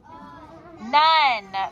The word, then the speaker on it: none: None. But it's a thinking word. We have to think known, but we say none.